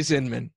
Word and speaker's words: Zinman: It's actually Zinman. Min, with like, Zin, but it's Zinman, yeah. But it's spelled with an A, which is really throwing me.